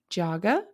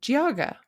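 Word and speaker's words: Geauga: It is pronounced Jaga or Giaga. Giaga. Jaga or Giaga depending on how fast you say it.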